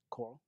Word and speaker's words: Corll: this guy I know Cora no yeah make sure you say it right cuz people might think you're saying coral exactly yeah so let's